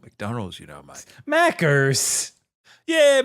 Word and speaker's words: Macca's: Mackers. Yeah, Macca's. We don't want to say an extra syllable.